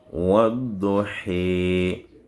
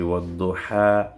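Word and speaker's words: والضحى: On dit wadduhi. Donc on ne dit plus wadduha, on dit he. C'est le même A, mais ça a subi une torsion lors de la prononciation. Raison pour laquelle on dit c'est un accent secondaire.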